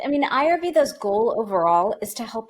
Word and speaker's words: Ayurveda: Ayurveda, sorry.